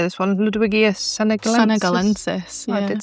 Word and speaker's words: Ludwigia senegalensis: Ludwigia senegalensis.